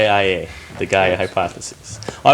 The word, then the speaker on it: Gaia: Gaea? Gaea? Or Gaea? Judges, can we accept that? I don't think he has to spell it. It's, Gaia, the Gaia hypothesis.